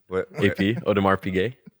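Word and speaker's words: Audemars Piguet: what what did you say just then OD odar pay that's that's how you pronounce it how remember this video the video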